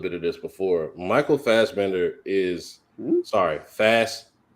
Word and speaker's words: Fassbender: Michael Fassbender is Fast.